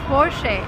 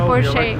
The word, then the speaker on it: Porsche: called Porsche a and that's the right way to pronounce it because it's a German name the stress goes to the first part of the word and we say for shame we'll remember never say poor shape never never and don't